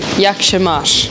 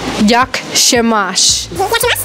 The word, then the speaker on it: Jak się masz: Jak się masz? Jak się masz?